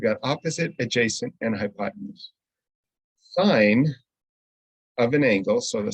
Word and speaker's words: sine: like sin cos and tan those are actually pronounced sine cosine and tangent and what we are looking